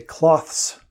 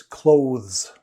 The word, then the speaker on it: clothes: they do is they devoice it they say cloths but it's not it's clothes so so both the th and the s are voiced clothes i have trouble